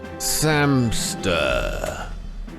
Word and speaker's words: Samster: Samster. For rhymes with hamster.